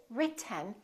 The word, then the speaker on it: written: This E kind of disappears. It's not pronounced. So it's basically the T and the N that are next to each other. Written. Keep your tongue up. Don't release it. Let the air just come out through your nose for the N sound.